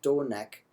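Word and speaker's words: donec: So, for example, very first word in this piece of text is pronounced donek with the short that next syllable has a short e in it, so that needs to be pronounced short.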